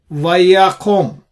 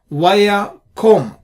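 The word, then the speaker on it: וַיָּקָם: Let's look at another example. Vayakom, the kof. Here, if you break up the syllables, here you have the accented syllable here, unaccented. So on the unaccented syllable, it is closed syllable. There is no doubt whatsoever. This is indeed closed syllable. We are not really depending on any absence or presence of shwa. So vayakom, period. This works 100% of the time.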